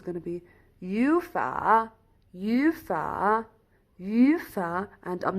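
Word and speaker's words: 语法: the second one so it's going to be ufa ufa ufa and i'm not pronouncing you far no ye focus here smile ufa which means grammar here no it's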